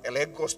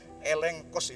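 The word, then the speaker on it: ἔλεγχος: eh bahasa yunaninya itu kalau huruf g didahului oleh vokal itu bacanya Eng gitu Jadi itu bukan elegos Tu bacanya elengkos itu bacanya yang dalam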